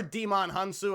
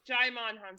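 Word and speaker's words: Djimon Hounsou: Poor Demon Hunsu. I can't pronounce that guy's name. I feel bad. Jaimon Hunsu.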